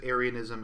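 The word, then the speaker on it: Arianism: which is confusing because aryanism is pronounced the same way as um uh the Aryan like the Aryan race or the Aryan people but it's spelled differently there's no Y in it um it's AR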